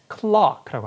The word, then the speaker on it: clerk: 자, 미국식 발음은 clerk예요. 근데 영국식 발음은 We have a new clerk. Clock라고 합니다.